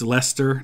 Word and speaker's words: Leicester: correctly so I know it's Leicester not like Chester I say Buckingham and